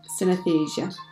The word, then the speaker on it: synesthesia: how to pronounce synesthesia it sounds like anaesthesia but with sin at the beginning so synesthesia the confusion of the